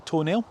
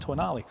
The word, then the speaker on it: Tonale: Certainly not called the Toenail. That would be silly to call a car a toenail. It's pronounced Tonale.